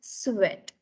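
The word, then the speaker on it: suet: You pronounce it as sweat.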